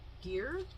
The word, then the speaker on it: Gier: Oh, sorry, by Kirsten Gier, I think is how you say her last name.